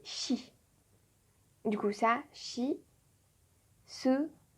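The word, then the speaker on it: し: Il n'y a pas de si. Ça va se prononcer chi.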